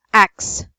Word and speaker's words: ask: And earlier you said axe. Ask. So it should be asked.